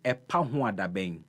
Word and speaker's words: Epahoadaben: The name of my show is Epahuadabeng. Oh my goodness, I think we'll break it in syllables.